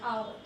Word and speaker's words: hour: Because it's H is silent here, hour.